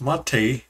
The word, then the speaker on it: MATE: xfce desktop lxqt mate oh I'm sorry a way to pronounce that is mate compiz the cinnamon desktop